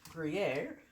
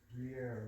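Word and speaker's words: Gruyère: And the last cheese that I'm going to put on here is Gruyere, which is that how you say it, hon? Gruyere.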